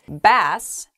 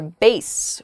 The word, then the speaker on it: bass: you can say gesundheit bass as in a type of fish or bass which refers to someone's voice it's also